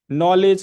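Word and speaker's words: knowledge: लिखते हैं कि नहीं नॉलेज की स्पेलिंग क्या है अब के क्यों लिखते हैं तो अरे बात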